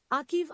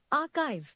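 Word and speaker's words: archive: इले इले नाउ we have you मे be pronounce it अकीव आर्चीव what it actually is आर्काइव आर्काइव the next word is यू मे बी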